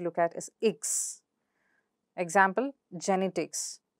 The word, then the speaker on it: genetics: is a suffix, and look at the syllable before the suffix, that is, in this case, in the case of genetics, net, and in the case of pediatrics, at. So how do you pronounce it? Genetics, genetics. And in second case, it's pediatrics, pediatrics.